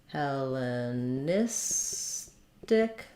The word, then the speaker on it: Hellenistic: second to last syllable so for Hellenic stressed here and hellenis stick stressed here um so that's not